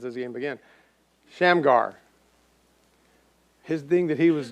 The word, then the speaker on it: Shamgar: of moab sheamar uh shane shamrock i'm gonna pronounce this game again shamgar his thing that he was good at he